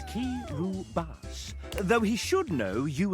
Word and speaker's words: Kiribati: This one, Evan wrote the note Kiribati is pronounced Kiribati, though he should know you as the player are.